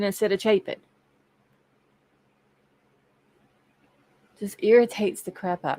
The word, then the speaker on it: Chapin: Or Chapin instead of Chapin.